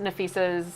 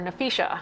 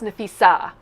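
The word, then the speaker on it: Napheesa: questions and they mispronounced Nafisa's name. Yep. They called her Nafisha. Which is what I do a lot. Yeah. Yep. And so Coach Reeves goes off. She's like, it's Nafisa, not Nafisha.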